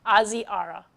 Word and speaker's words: Ozzy Ara: I'm sorry if I was saying it wrong. Ozzy Ara. I will remember that. Thank you very much for telling me your pronunciation, Ozzy Ara.